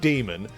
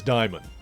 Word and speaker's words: Daimon Hellstrom: The Marvel character, the son of Satan, Daimon Hellstrom, his name is not Damon, his name is not Damien, his name is Daimon.